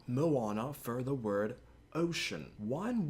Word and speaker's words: Moana: Moana, not Moana for the word ocean.